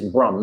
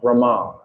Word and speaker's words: Brahm: used to establish Brahm this is Brum not Brahman Lord Brahma has a